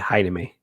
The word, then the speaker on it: Jaime: spell it but but the j sound is pronounced with an h so spanish is weird so my name is jaime yeah hi to me or if you're